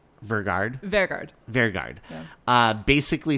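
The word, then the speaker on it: Vegard: Vergard.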